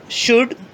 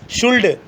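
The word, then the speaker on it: should: देखते हैं, शुड, वुड, कुड, talk, ऐसे नहीं बोलना, वुल्ड, शुल्ड, कुल्ड, ठीक है।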